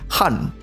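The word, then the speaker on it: 漢: In Chinese it is pronounced Han, from Han Dynasty.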